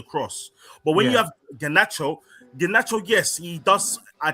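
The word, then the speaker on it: Garnacho: Between Ganos, Ganacho, that's his name, by the way.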